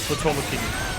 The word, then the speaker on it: Potemkin: Oh yeah, in Exard is like Potomkin, isn't it, instead of Potemkin. Potomkin! It's like Japanese pronunciation.